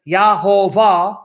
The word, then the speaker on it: Yahovah: of the Old Testament, is actually more accurately pronounced as Yahovah, from which we get Jehovah.